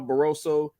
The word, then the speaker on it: Barroso: Rolly's fighting uh baros I think it's Ishmael barroso yeah they say his last name I don't want to butcher it oh you said it right um but barosso was supposed to be